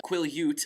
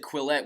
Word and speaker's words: Quileute: too perfectly set up i finally got the pronunciation of the reservation that the blacks live on the quileute I always said quill it when I was reading the books right in my head that's what I always